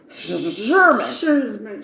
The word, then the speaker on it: Szurma: It's Sermon, I think, but it's an Szurma. So it's Sherman.